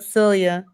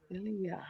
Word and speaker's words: Celia: Yeah, that's how you pronounce her name. Yep, Celia. Celia.